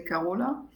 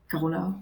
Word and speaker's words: Carola: Okay, so I'm German by background, and in Germany we say Carola. But now I'm much more used to the French pronunciation, which is more like Carola or something like this.